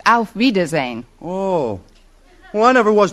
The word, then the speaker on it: auf Wiedersehen: Actually, the word you have in mind is pronounced auf Wiedersehen.